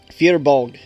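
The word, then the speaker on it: Fir Bolg: Fierbolg is the proper pronunciation. Fearbolg. Yeah, it's Irish, by the way.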